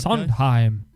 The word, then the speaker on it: Sondheim: Cole Porter Arthur Laurents or Stephen how we pronouncing that Sondheim its Sondheim husband Chinese song time Jerome Rockne Cole Porter